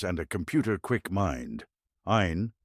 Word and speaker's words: Ayn: Ain rhymes with mine.